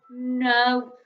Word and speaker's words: know: else easier hey so ow in this word makes an o sound like in the word grow and then k and m makes the sound because the k is a silent letter so that word is the word no not as in yes